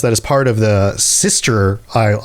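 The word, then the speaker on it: Systres: is part of the sister isle. It's spelled weird. It sounds like sister, like your sibling, but the spelling is different. The sister isles, and we're going to be going to a number of these isles.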